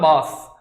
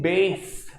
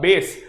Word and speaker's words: bass: लोग इसको बोलते हैं बास. बेटा, बास सिर्फ बास नहीं आना चाहिए कभी भी. ठीक है? बास is absolutely wrong. The correct pronunciation is bass. All right, bass.